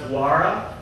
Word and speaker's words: vara: the panga are the Vara or sometimes just pronounce war with like a w v and that's just